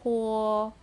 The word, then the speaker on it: 活: Next word, 活, has H as a consonant and vowel is U and O, pronounced as O.Uo, with the second tone put above letter O, pronounced this way. He uo, huo, huo, huo, huo, going up.